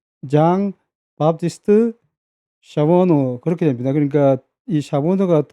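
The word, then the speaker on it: Jean Baptiste Charbonneau: 그래서 이제 그 여기를 이제 가게 됐는데 발음은 이제 그 프랑스식 발음이기 때문에 장 바티스트 샤보노 그렇게 됩니다.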